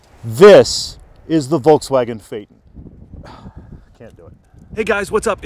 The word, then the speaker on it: Phaeton: for salespeople and for text they show the pronunciation they want for this car fa y t om Phaeton the strange and ridiculous thing about these cars